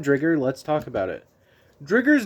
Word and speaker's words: Driger: Driger's name, interestingly, was changed to be pronounced different in the US. Its name is technically Dger, but I think most people just say Driger.